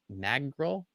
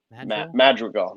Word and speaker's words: Madrigal: coming up mad how do you say it mag girl madrigal nick madrigal madrigal that's a pretty sweet last